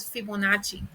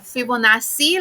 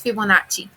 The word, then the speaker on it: Fibonacci: that little quiz um because it's italian then you pronounce it like that fibonacci when i was in high school i thought it was fibonacci like with double c but then it's fibonacci so go ahead and